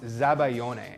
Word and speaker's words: zabaione: we're making the sabayon in the Italian this is actually pronounced zabaione and what this is